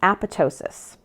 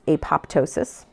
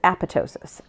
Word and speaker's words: apoptosis: of signal transduction is aptosis. Um I used to think it was apoptosis. I was incorrect. It is aptosis. The second P is silent like in pterodactyl like the P in pterodactyl.